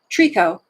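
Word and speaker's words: tricot: see tree cup okay that is pronounced Trico although it's spelled t-r-i-c-o-t did you guys see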